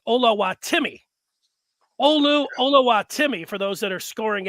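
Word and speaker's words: Oluwatimi: that's his name but while it looked like ola watimi it is pronounced olawatimi olu olowatimi for those that are scoring at home and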